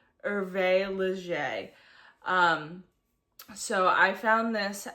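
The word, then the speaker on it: Hervé Léger: Um, it is spelled V Leisure, but I looked up the pronunciation and it's pronounced Erve Leger.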